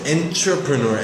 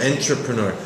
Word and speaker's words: entrepreneur: Pronunciation wise, you said entpreneur. entrepreneur. We say entrepreur. I understand enter, entry, exit. Uh, but it must be some type of French background. We say an entrepreneur. It's a little bit of an unnatural pronunciation to me as I think it's a French word.